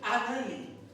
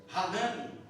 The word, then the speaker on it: Hanani: Estando eu em Susan, a fortaleza, veio Anani ou Hanani, como preferir, os duas pronúncias são um dos meus irmãos, Anânia, é irmão de quem?